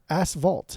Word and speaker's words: asphalt: Asphalt. How do you say it? Fault. Asphalt? Yeah, like an F, not a V.